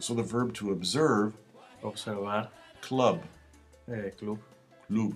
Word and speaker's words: observar: It's even when that badaga is at the end of a syllable, it still sounds like a fricative. So the verb to observe. Observar.